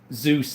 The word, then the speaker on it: Zeus: Zeus, that's how he pronounces his name, like the Greek god.